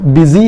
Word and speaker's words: busy: ಇದನ್ನ ಹೆಂಗೆ ಉಚ್ಚಾರಣೆ ಮಾಡಬೇಕು ಬಿಸಿ ಎಂಬ ಉಚ್ಚಾರಣೆ ಮಾಡಬೇಕು ಬ್ಯೂಸಿ ಅಂತ ಅಲ್ಲ ಸೋ ಇಂಗ್ಲಿಷ್ ಅಲ್ಲಿ ಸ್ವಲ್ಪ